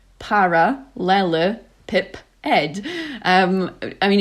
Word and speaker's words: parallelepiped: which is made squint is called a parallelopiped pronounced paralel pip Ed um I mean it's still written down so